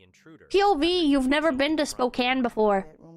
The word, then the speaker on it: Spokane: lest way you give a man props for pronouncing Spokane correct. 6:30 in the morning. Did he? I didn't even notice. Finds herself face to face with the int. You've never been to Spokane before.